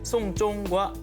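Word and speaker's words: 送钟: 이 중국어로 시계를 선물하다는 송쫑이라고 발음을 합니다. 이 발음이 장례를 치르다라는 뜻의 송쫑과 발음이 똑같습니다.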